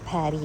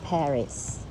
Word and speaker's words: Paris: Pary basa doon hindi Paris. Pwede rin sa mga ano sa ibang tao na hindi French pero mga French gagamit sila. Paris ang tawag par kasi nga hindi nila pina-pronounce words that end in s DX.